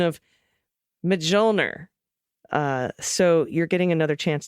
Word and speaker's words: Mjolnir: So this is the pronunciation of Mjolnir.